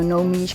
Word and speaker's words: Nomige: of your dna and it's work play so no meech comes from genome oh that's brilliant thank you